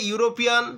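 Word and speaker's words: European: এ ইউরোপিয়ান, দেখো ই থাকলেও কিন্তু এখানে ইউ এর মতো উচ্চারণ কিন্তু এসে গেছে।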